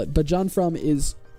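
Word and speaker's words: Jon Frum: So it's John from Fru M is how you spell it. But John from is it's so cool.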